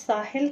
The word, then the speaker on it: Stahl: और उसमें आपके पीरियड में अर्नेस्ट साहिल थे, एक अर्नेस्ट साहल, टी इसमें STAHL है उनका, टी इसमें साइलेंट है।